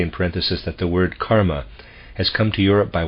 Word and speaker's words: karma: very sincere students saying kerma it is Dreadful close parenthesis a readers aside I'm going to use the English uh pronunciation of this Karma end of aside thus